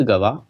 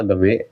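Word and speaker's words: गवाँ: बिदर में मदरसे का निर्माण महमूद गवा ने करवाया था, ठीक है, गवा ने करवाया था, गवा गवे जो बोल सकते हैं, गवा है ज्यादा उच्चारण।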